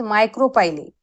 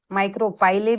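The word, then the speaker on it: micropyle: अब what is माइक्रोपाइले, माइक्रोपाइले भी pronounce कर सकते हैं या माइक्रोपाइल भी कह सकते हैं आप इसको।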